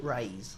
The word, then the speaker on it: Raiz: Raiz.